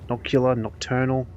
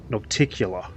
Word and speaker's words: Nocticula: pretty important episode because we meet not Nocturnal. I've been saying her name wrong the whole time. Well, I've got it written here. Noc- Nocticula is her name.